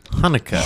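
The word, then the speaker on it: Haneke: yeah he's he's German and his last pronoun it's spelled h a n e k e Hanukkah Hanukah Hanukah Michael Hanukah all right anyway I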